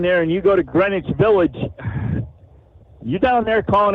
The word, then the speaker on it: Greenwich: But it's pronounced Greenwich. Yep. Okay. Greenwich. Yep. Just like just like Connecticut. It's Greenwich, Connecticut. It's not Green Witch, it's Greenwich.